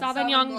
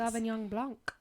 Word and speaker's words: Sauvignon Blanc: Sauvignon Blanc.